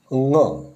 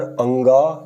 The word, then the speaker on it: ङ: इसका उच्चारण, ङ का उच्चारण अंगा या गुआ अशुद्ध है। सही उच्चारण ङ है, क, ख, ग, ग, ङ।